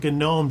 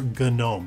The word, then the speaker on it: GNOME: this as gnome you can refer to it as gnome if you want but for me I prefer gnome because it stands for